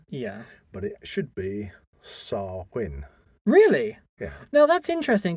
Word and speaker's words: Samhain: most people and I have heard people uh pronunciate it as Sam Hayne yeah but it should be SAR Quinn really yeah now that's interesting because obviously we